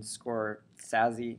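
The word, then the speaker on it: Scorsese: scorsi or um Martin scor sazy he pronounces it differently than everyone else actually pronounces it like everyone pronounces it scors but I think he actually pronounces his name differently so um anyway famous filmmaker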